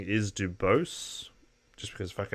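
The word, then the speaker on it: Du Bois: seeking higher education w.e.d now i would say dubois but apparently the american pronouncing is dubose just because americans took a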